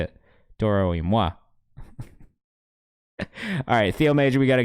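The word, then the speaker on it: Toro y Moi: I think Moi, because that's how it's spelled, and that's how the French would say it.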